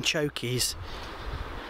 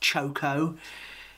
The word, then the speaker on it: choko: Oh, she's still got the blooming chokies. I was never really a fan of that vegetable. It's actually pronounced choco in New Zealand, or chayote in Spanish.